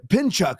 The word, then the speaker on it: Pinchuk: Let me pronounce it right. Pinchuk.